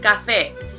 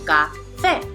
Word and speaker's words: café: Here we have the word café, and as we can see, it has 2 syllables, which are café. We can also see that the stress falls on the second syllable, café. Important to remember that una